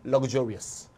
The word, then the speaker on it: luxurious: 얘는 발음이 그즈야. luxury, luxurious. luxury, luxurious.